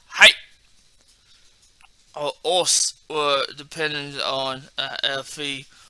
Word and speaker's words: Osu: But also can be like, you can say with your buddy, because from what I read, right, it has OSSU, and it was just still pronounced os.